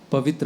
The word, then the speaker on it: पवित्र: जैसे पवित्र आत्मा पवित्र होता है, लेकिन जो छोटी ई की मात्रा है उसको बड़ी ई की मात्रा उच्चारण में करेंगे तो वो अच्छा नहीं सुनाई देता।